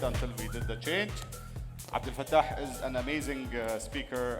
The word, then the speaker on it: Abdelfettah: abdal and that's because my name in Arabic Abdul fat has the and Europeans don't know how to pronounce that right so I'm a developer Advocate